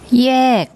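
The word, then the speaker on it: แยก: Initial consonant is the yor yak y sound, and then the final consonant is the gor gai, which has, as a final consonant, it has like an unreleased k sound.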